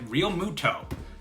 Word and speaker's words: Realmuto: It took me a while to pronounce his name correctly. Realmuto.